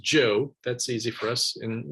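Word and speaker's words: Zhou: a a group of people known as the Joe it looks like Z or zuu it's pronounced Joe that's easy for us in in America to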